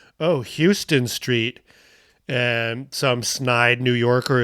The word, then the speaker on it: Houston Street: in the East Village and you're like, oh, Houston Street. And some snide New Yorker is like, it's pronounced Houston Street.